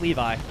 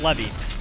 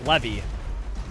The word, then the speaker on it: Levy: Yeah, maybe it's Levi. Levi. No, it's Levy. The name is pronounced Levy.